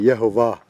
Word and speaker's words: Yehovah: No, get the J. Get that J out of there and just say Yehovah.